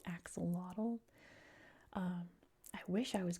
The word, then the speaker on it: axolotl: You know, like we say axolotl. And they're saying, "Actually, axolotl is pronounced like this." But I speak English, and in English it's pronounced axolotl.